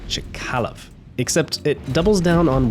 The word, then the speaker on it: Chkalov: similar to poeta and I believe it's pronounced chalov except it doubles down